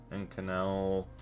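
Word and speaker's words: Inconel: So how do we even say it in canel pronunciation?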